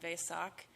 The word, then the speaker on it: Vesak: So, we're here to celebrate this Buddhist holiday, as Terry mentioned, called Vesak. Um, ves a k. And it's also sometimes pronounced way with a w sound at the beginning.